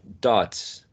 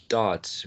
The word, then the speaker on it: darts: Dots, D-A-R-T-S, dots, long A.